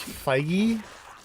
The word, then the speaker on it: Feige: I think it's Feige, like legit, which is a weird way to read that, but...